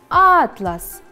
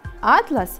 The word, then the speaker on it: атлас: Следующее слово – «атлас». «Атлас» – это те географические карты, по которым учатся ученики. Если мы меняем ударение в слове и ударение будет падать на второй слог, то получится слово «атлас».